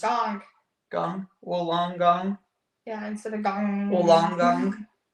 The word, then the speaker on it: Wollongong: Wollongong.